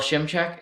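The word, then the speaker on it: Szymczyk: Eagles went with the how am I gonna pronounce this bill Shem check is how I think you'd pronounce it he was um the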